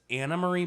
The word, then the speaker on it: Anne Marie: Who were like, she tried to tell people how to pronounce her name, so it's Anna Marie, but it's spelled Anne Marie.